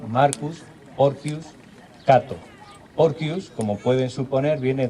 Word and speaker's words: Marcus Porcius Cato: Catón también, hemos hablado de familias agrícolas, pues Catón, el viejo Catón, se llamaba Marco Porcio Catón, o más pronunciado en latín, Marcus Porcius Cato.